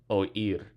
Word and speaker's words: oír: Oír. Oír. We need the accent on the I to break it up into two syllables.